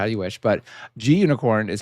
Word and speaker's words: Gunicorn: it's a green unicorn I'm pretty sure G unicorn stands for green unicorn not unicorn but you know you all say it how you wish but G unicorn is how I say